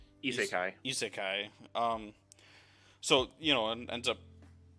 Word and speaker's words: isekai: truck, wake up in a new world, like itsukai is that how you say it? I- Isekai.